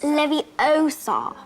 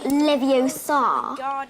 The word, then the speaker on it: Leviosa: pothead bye bye wian Leviosa stop stop stop you're going to take someone's eye out besides you're saying it wrong it's Levi Oar not leviar you do it then